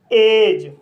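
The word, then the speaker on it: edge: तो गाइस इसका रूल है, जब किसी वर्ड में डी के बाद जी ई आए तब डी साइलेंट रहता है। जैसे एज, बेज, वज, लॉज, ब्रिज। तो गाइस इन सभी वर्ड में डी के बाद जी ई आया है, इसलिए डी साइलेंट है।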